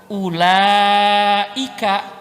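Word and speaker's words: أولئك: Ulaika, betul nggak?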